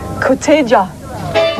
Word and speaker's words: Koteja: Right, well, we're going to see that now, and this correctly pronounced is Koteja.